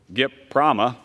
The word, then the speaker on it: GPRAMA: by a Reform Act known as GPRAMA, GIPRAMA, as it is noted in my notes here, phonetically.